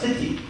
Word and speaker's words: Tithi: The second point is the Tithi. It's sometimes pronounced Titi, so it almost sounds like a titty. Depending on what part of India you're in.